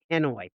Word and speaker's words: Hanoi: Henway. Okay. Uh yeah, that's a tough word. The way it's spelled, right?